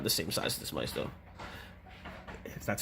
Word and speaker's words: Maisto: And that the Marvel Legends is about the same size as this Maisto. That's how it's pronounced.